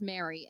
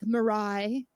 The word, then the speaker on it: Meri: I get being like marai it's just it's just Mary M it's not M my name is not M Marie I'm like well that's